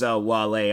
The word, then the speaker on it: Wale: I was like, Whale, but no, his the guy's name is Wale.